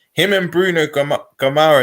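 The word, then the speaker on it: Guimarães: and bruno come up gemara is how you pronounce it i think them they're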